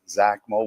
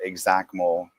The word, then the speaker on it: XACML: You know, it's either Zach Mole with a Z or Exact Mo like exactly.